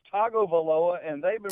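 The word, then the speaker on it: Tagovailoa: okay you're talking about how do you say it sir it's Togo voloa and they've been pronounced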